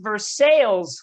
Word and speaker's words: Versailles: We have a city in Kentucky that's pronounced Versailles.